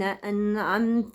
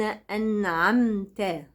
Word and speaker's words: أنعمت: صراط الذين أنعمت. كلمة أنعمت فيها ساكنين، أن النون، عم الميم.